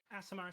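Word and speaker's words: Aasimar: Oh, my character is a, I think it's pronounced Azamir or Azamar, one of those two. Asimar, so I always heard it pronounced.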